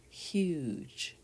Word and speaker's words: huge: did you see that without the e it would say hug right but with the e it makes the u say u and it makes the g such huge okay let's look at